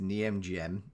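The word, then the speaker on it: Nijmegen: just before this the knockout stage unveiling against Niemgem, and that is definitely how it's pronounced.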